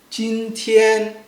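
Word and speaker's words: 今天: Make sure it's flat, long, right? And also loud, right?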